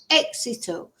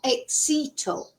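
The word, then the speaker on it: éxito: And don't forget as well there's an accent on the e. So it's exal not exto.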